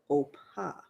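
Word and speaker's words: Orpah: of ruth name was oppa so um they couldn't pronounce it because the letters you know the p and r uh were in different positions so it's o-r-p-a-h is her actual name so it was poor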